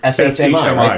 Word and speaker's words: Shmi: I think that's how it's S-H-M-I, right? Yeah, Shmi, that's how I would say it.